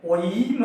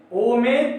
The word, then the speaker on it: ओम: बहुत सारे बच्चे इसको ई समझ लेते हैं और बोलते हैं सर ये क्या है, ओईम है, ओईम, ई नहीं है। ये ओ में 3 मात्रा का द्योतक है, इसके उच्चारण में 3 मात्रा का समय लगाना है। इसलिए ओम, ओम में ओ के उच्चारण में हम लोग ज्यादा समय लगाते हैं, प्रभु में ओ के उच्चारण में लगाते हैं। ये प्लुत स्वर कहलाता है।